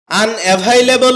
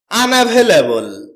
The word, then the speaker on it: unavailable: আনভেলেবল এটাকে আমরা আনঅভেলেবল বলে থাকি। যার সঠিক উচ্চারণ হচ্ছে আনভেলেবল।